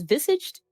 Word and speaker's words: visaged: the following Negroes, visual sambo, a small, thin, how do you pronounce this? Visaged? Is that how you say the word? I don't know. Visage? Visage?